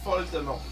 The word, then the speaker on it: Voldemort: Sounds better if you pronounce it closer to how it would be in French. Lord Voldemort sounds... Oh, he sounds French when you pronounce him in French. It's Voldemort.